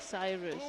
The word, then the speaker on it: Cyrus: So it's pronounced Cyrus. Okay. That was my German way of pronouncing. How would you pronounce in German? Well, if you pronounce it the way you write it, so it's Cyrus Katrak, something Cyrus, like this. But it was clear that it is not a German name, so it was the wrong pronunciation.